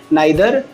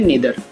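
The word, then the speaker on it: neither: और जो अगला शब्द है वो है हमारा पास में नाइदर, या जिसे हम लोग पढ़ते हैं नीदर, ठीक है।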